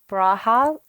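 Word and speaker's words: Brauhaus: say that brow house i think it's brau right yeah braha it means brew house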